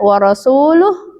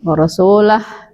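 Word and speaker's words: وَرَسُولُهُ: Kasus lain lagi ketika Ali bin Abi Thalib itu mendapati orang membaca ayat yang seharusnya dibacanya warasuluh tapi bacanya dengan harakat yang lain. Warasulah gitu.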